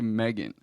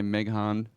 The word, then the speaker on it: Megan: Who the fuck cannot say Megan? They say Meghan.